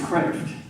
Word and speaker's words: Kreeft: It's It's Kreeft. It's Dutch. It means lobster. Kreeft. Kreeft is Americanized.